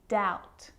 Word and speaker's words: doubt: subtle debt and doubt so see in all of those examples my lips aren't closing and coming together to form the b sound i'm just pronouncing the t subtle debt and doubt now the letter c